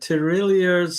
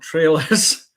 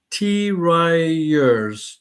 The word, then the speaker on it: tirailleurs: Now, uh super super John, so super yellow, has spelled out the tirailleurs sénégalais. Um and it's not trailers.